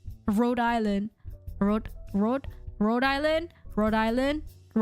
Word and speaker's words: Rhode Island: Just don't try to pronounce it with the H and without the H and the S. I literally just say, without the H and the S. Rhode Island.